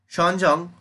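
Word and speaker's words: Xuanzang: the chinese buddhist monk sean jung so this is you know pronounced as shonjong was actually the option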